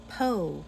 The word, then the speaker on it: Pau: Bell if we're on YouTube so power France po it's pronounced a French person told me it's spelled